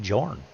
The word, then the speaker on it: Jor: it's like yeah no they call him Jor flat out they pronounce it as a j not as a not as a y you know I don't